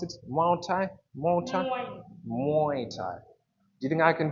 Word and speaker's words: Muay Thai: How do you pronounce it? Muay Thai? Muay Thai? Muay Thai.